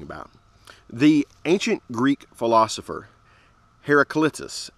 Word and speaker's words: Heraclitus: the ancient Greek philosopher Heraclitus Herrick let me say that right the ancient Greek philosopher Heraclitus that sounds better right Heraclitus he's ancient he's